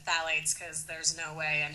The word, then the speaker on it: phthalates: That's spelled PHTHALATES. It sounds like phthalates. It's like a really weird spelling.